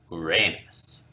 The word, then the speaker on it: Uranus: Uranus, or is it Uranus? Technically, the mythical god that the planets named after is pronounced more like Uranus.